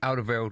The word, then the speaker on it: Alderweireld: When we come back, we're going to be joined by Spurs and Belgian legend Toby Alderweireld will be live on The Breakfast Show right after this.